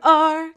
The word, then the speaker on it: are: know the sight word r can you spell it where you are it starts with an a and then there comes an r and don't forget the e he's as silent as can be let's spell it a